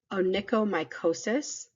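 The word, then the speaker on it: onychomycosis: condition where there are dry patches of skin onicomicosis is how you pronounce that word mosis is a fungal infection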